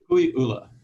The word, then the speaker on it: Kukui'ula: I mean, I have to say, listening to you, your property in you pronounce it Kukui'ula, or how do you pronounce it? Kukui'ula.